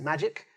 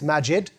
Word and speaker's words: Maajid: My name isn't Magic, but it's Maajid with a D. It rhymes with magic, and that's how you can remember it.